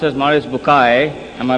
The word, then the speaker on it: Maurice Bucaille: and a scholar of Quran Dr moris buk pronounced as moris bukai am I right doctor do matter okay uh